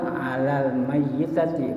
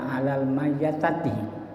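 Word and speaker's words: على الميتة: Maka lafaz yang diucapkan dalam niat salat jenazah itu usolli ala haditi tuh bukan usoli ala hadati tapi alal mayyiti. Kalau dia perempuan alal mayyitati bukan alal mayyatati.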